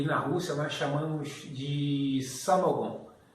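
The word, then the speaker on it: самогон: Aqui nos Estados Unidos é chamado de lavagem de açúcar, o wash, e na Rússia nós chamamos de samogon. Se escreve samogon, mas se fala samagon.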